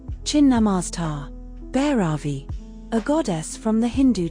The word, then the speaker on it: Bhairavi: Bhairavi. A goddess from the Hindu tradition. Primary domain, fierce power. Secondary domain, discipline. Pronounced, Bhyravi.